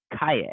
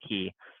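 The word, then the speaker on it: Caye: the islands of Ambergris and Kaye, or Kai, Key. I think they call it Key. I don't know, it's spelled C-A-Y-E, kind of funky.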